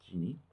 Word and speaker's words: Gini: have encountered the Gini index GI nai it's pronounced Gini and it's named for Corrado Cheney he is